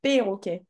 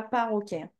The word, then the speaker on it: perroquet: Ok, attention, c'est perroquet, pas paroquet.